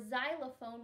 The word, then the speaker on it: xylophone: letter X sound or xylophone which actually starts with a Z sound even though it's spelled with an X most of the time